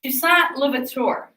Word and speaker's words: Toussaint Louverture: It is Toussaint Louverture. I'll spell it for you.